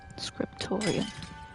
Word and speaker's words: Scriptorium: We're another step closer to the Scriptorium. Scriptorium. That's how you pronounce it.